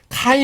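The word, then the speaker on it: καί: " 카이 " 는 참 쉽죠 ?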